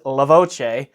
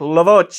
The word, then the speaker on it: Voce: Because this is Italian, the correct pronunciation of this unit is Voce.